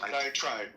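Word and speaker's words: diatribe: Um and by the way, the more I think about Dioenesis diet trade, um diet trap, how do I pronounce that? One of those diet tribe tribe.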